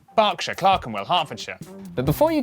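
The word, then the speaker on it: Berkshire: silent Norwich Beric souk e r is pronounced R barkshire Claren hartfordshire but before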